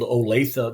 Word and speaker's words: Olathe: I met you guys in Omaha, and Dave pulled Olathe, the proper pronunciation of Olathe, right out of his hat, and that was awesome.